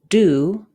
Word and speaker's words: do: we can decode on the word do D doesn't follow our spelling patterns we need to memorize do the word word say